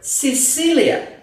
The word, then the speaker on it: Sicilia: and always say that before letters E and letter I, the letter C pronounced like S, like in the word Sicilia.